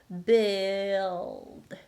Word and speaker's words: build: The tip of the tongue doesn't really go up. You don't have the time to do it. So when the tongue goes up, you're already pronouncing D, not L.